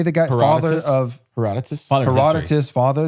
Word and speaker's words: Herodotus: even going to try to pronounce the Herodotus. but Herodotus.